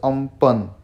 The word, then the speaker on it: Amphan: things over here um fun which is pronounced as um pun is an extremely severe